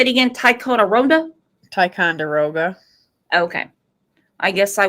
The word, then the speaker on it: Ticonderoga: Ticonderoga?